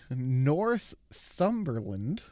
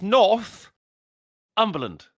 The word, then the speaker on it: Northumberland: It's Northumberland. That's what I said. Northumberland. Oh. It's not what you said. I'm putting the emphasis on the right syllable.